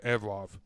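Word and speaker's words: Evloev: Yeah, Evlov. There's a V on the end.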